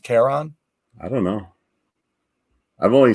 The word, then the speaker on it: Charon: You know, I want to ask him where he got the name Charon.